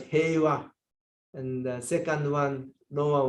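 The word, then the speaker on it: 平和: The top one is pronounced as heiwa, and the second one, lower one, is unknown.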